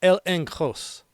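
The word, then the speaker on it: ἔλεγχος: Confidence in the Greek is pronounced elenkos, meaning inner conviction, proof, evidence that persuades.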